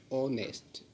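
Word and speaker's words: honest: Particular case होता है, वहाँ पे एच साइलेंट होता है और इसका जो प्रोनंसिएशन होता है वो ऐसे निकलता है ऑनेस्ट ऑनेस्ट ऑनेस्ट मैन, तो यहाँ पे अपन एन लगाएंगे।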